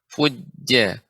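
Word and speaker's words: فجار: Jim pengucapannya tengah lidah. Fujja.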